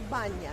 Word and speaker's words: Banya: How do you say it? Banya. Banya. It So, means, you know, the place where you wash yourself. okay, so they call it